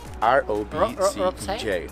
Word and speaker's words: Robcej: Follow me and this is R-O-B-C-E-J. Robcej. Yeah, Robcej. Yeah. But I think that, you know, the pronunciation is different because in Czech, like, CJ. CJ.